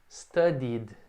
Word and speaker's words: studied: Aqui sim, você vai pronunciar como id, né? Eu estudo, ele já acaba nesse som i. I study, I studied. Eu estudei. I studied. Tem esse som de id.